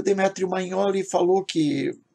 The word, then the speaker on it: Magnoli: Eu falei Magnoli, mas a pronúncia correta parece que é Magnoli.